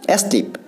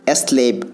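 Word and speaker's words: slave: দেখো স্লিপ আমরা মূলত জানি স্লিপ, এস এল এ ভি, স্লিপ বা স্লেব, সঠিক উচ্চারণ কিন্তু স্লেব।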